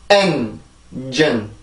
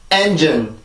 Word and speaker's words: engine: engine. 다시 한번. engine. 한 번 더요. engine. 그래서 이 단어는 engine이라고 발음이 돼요. 절대로 엔진이라고 발음을 하시면 안 되고요.